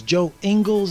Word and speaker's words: Joe Ingles: Actually, I believe it's Joe Ingles is how you pronounce that guy's name.